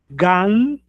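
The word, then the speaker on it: גן: E gan, que fica mais com o nos dentes, né?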